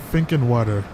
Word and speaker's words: Finkenwerder: never heard of this place before so it's pronounced thinking word water think thinking water all right so let's find out about thinking water uh i'm just trying to find something that's